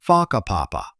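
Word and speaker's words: Whakapapa: You'll hear locals casually talking about places like Faka Papa, pronounced Faka Papa.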